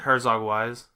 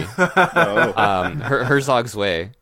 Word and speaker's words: Herzog Zwei: Was it Herzog Wise? Yeah, buddy. Herzog Zwei. So Zwei. Zwei.